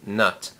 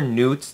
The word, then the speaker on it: Nut: depicted with Geb was his wife nut or Newt depending on who you are that they've been pronounced both ways she was considered to